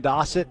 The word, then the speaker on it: Dossett: like uh oh yeah Mason dossett as in Rhymes almost rhymes with Fawcett it rhymes with faucet if you're from the Midwest there you go Paxton